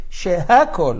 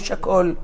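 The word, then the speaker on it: שהכל: Where is the hey? Shehakol, not shakol.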